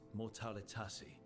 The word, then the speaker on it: mortalitasi: So, I've heard people call necromancers mortalitasi.